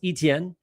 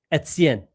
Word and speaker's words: Etienne: It's not A. It's E. Et. It's the easiest way to like describe it would be the word it's, but with an E. So Etienne. That's the proper way to say Travis Etienne.